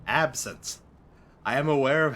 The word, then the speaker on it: absinthe: Absinthe. Not absinthe. Absinthe.